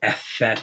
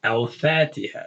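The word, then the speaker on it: الفاتحة: letter fed al fatiha we don't say effect yeah we say al fatiha right leather fat same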